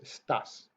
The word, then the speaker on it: estás: accents in, and then when we're saying the words that we place that vocal stress on the second syllable. Yeah? So it's tú estás, ella está.